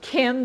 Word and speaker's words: CIM: And they call it KIM. I would pronounce it soft C, but that's who I am. But this is KIM.